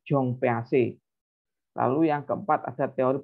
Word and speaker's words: Jean Piaget: Ini bukan Jean Piaget ya, tapi bacanya Jong PAC.